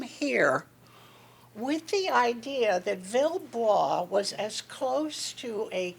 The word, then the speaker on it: Villebois: we came up with Bill blah the silent E folks okay and the village Village